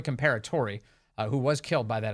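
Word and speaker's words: Comperatore: My Corey reminded me how to say this. It's Corey Comparatori, who was killed by that assassin this weekend.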